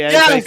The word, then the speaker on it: Eze: Yeah, so I know it's pronounced Eze, but it's spelled easy, so it looks as though easy.